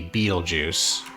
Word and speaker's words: Betelgeuse: so um i thought that might be beetlejuice which is spelled betelgeuse like that um however if you look at that that's 33.2 fuel away from home and we have 60.